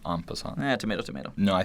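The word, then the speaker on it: en passant: top of that he even knows what an impant is uh it's pronounced aant yeah tomato tomato no I think you mean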